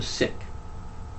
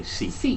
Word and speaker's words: Sikh: He was a Sikh. Americans say Sikh, but it's the actual pronunciation is Sikh, but that's beside the point.